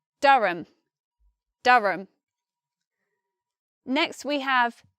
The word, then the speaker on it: Durham: you might expect this word to be more like dura ham because we see the letter U and R and we might think oh it's maybe similar to the word purple or some different pronunciation we don't expect the AH vowel there so we say Durham dharam next we have